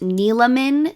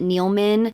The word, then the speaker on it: Neeleman: yes it is pronounced Nan three syllables the E is not silent Hannah n NE everyone I've seen talking about this pronounces it neilan which I also did